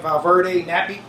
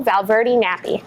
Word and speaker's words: Valverde Nappi: So did I say your last name right, Valverde Nappi? You said it right this time.